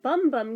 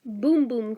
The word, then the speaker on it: Bum Bum: according to their website apparently y'all have been saying it wrong apparently it's supposed to be pronounced boom boom cream i don't know if they're trolling us just to see if they could get anybody to actually say it that way but if you scroll down the product page on this on their website far enough they claim the pronunciation is boom boom i call so much